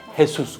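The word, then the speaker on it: Jesús: 근데 그 사람들은 J를 H로 발음하니까 헤수스 그러죠.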